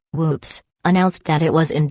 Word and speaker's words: WPPSS: on July 25th 1983 wppss pronounced with maob humor whoops announced that it was